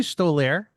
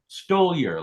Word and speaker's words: Stoliar: Did they call you Stolair? No, only if they want to mispronounce my name correctly. How is it pronounced? Stoliar, like stole your time slot or wallet or something.